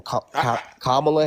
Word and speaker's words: Kamala: Kamala Harris. Think of the punctuation. All right, comma, and then it's la.